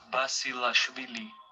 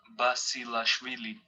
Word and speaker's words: Basilashvili: This is his own pronunciation of his name. Nikolos Basilashvili. Nikolos Basilashvili. So that's an ejective in Georgian. You can hear the ejective "r" in Georgian.